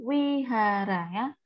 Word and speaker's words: Vihara: kok terusnya Vihara Iya tulisannya Vihara Tapi bacanya Wihara sama kayak kitab sucinya